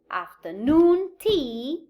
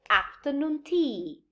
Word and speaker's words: afternoon tea: a primary stress so i do not say afternoon tea but i say afternoon tea this is to keep rhythmicality musicality at the